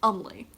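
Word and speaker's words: Eumleh: So I'm also named Umley, which is spelled E-U-M-L-E-H.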